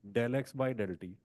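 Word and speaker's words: ∂x/∂t: Pronunciation इसकी होती है डेल एक्स बाई डेल टी, डेल, del operator, ठीक है, डेल कहते हैं।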